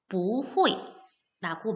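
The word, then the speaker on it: 不会: 얘는 반대말로 무엇 할 수 없다인데 이 후이가 사성이기 때문에 뿌의 원래 성조인 사성으로 발음하는 게 아니고 이성으로 발음해서 부후이라고 말을 하면 무엇을 할 수 없다라는 표현입니다.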